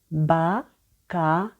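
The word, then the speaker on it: Baccarat: кінці супер літера батара бакара бакара подвоєна літера дає один звук літера Т не читається батаре наступне слово Абі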